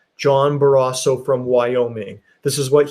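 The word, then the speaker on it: Barrasso: this morning on Fox News Sunday I I mispronounced his name I'm sorry it was John baraso John baraso from Wyoming this is what he to say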